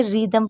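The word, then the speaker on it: rhythm: हो रही है तो आर और एच अगर साथ में होंगे तो आपका एच साइलेंट रहेगा यानी कि एच को आपको नहीं पढ़ना है और इसमें जैसे आपने देखा इससे हमने रिदम पढ़ा अब रिदम क्यों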